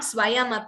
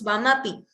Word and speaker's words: Swamapi: It is not Swayamapi, it is Swamapi.